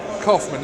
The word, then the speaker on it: Kaufman: many different ways absolutely first name is supposed to be Hoffman but it is Coffman and you couldn't explain